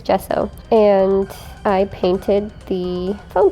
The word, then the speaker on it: gesso: next i took some gesso or gesso i hear it pronounced both ways i'm pretty sure it's gesso and i painted the